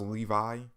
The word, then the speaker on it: Levi: on Titan chapter of people saying that I was pronouncing Levi wrong, which I understand. It's really pronounced Levi, and I have a